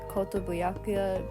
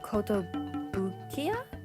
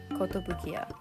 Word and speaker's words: Kotobukiya: This second piece is based on those Kotobuyakuya Bishoujo horror figures. Is that how you pronounce that? Hold on. Okay, so I'm stupid. It's Kotobukiya? Kotobukiya. Yeah.